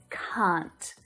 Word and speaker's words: can't: but in my accent it's can't can't so it's that longer vowel sound and very different to the short a a a a a